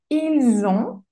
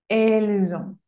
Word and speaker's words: ils ont: Y el último, ils ont, también hago la liaison, ils ont, elles ont. Y la T final no se pronuncia.